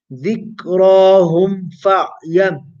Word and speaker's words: ذكراهم فاعلم: Ensure that you don't merge the Meem into the Fa. Don't say ذكراهم humf humf. Yeah? How do you pronounce this? ذكراهم فاعلم ذكراهم فاعلم أنه لا إله إلا الله.